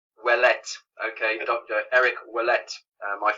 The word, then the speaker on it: Ouellet: Eric, is that how I pronounce it? Is it Ouellet? It's Ouelett. Ouellet.